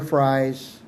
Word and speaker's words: Frey: And Amber Frey's, do I say it right, Frey?